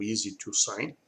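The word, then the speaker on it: EZ2Sign: Aí nós temos a parte do software de assinatura eletrônica, que é o Easy to Sign. Então se escreve EZ, número 2, Sign, ou em inglês a Easy to, né?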